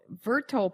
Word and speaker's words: Verto: Well, you founded Verto Verto Partners, right? I'm pronouncing that right?